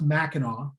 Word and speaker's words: Mackinac: if you're not from here just know it's pronounced mackinac whether it's mackinac city in the lower peninsula